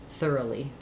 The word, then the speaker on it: thoroughly: In thorough, actually it's thorough, but in thoroughly, we lose that O quality for this middle syllable. It becomes a schwa, thoroughly.